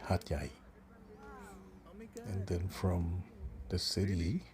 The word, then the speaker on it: Hat Yai: Sounds like the word of the equivalent word of domestic helper or achay in Filipino, but it's more or less pronounced at Hatay, Hatyay.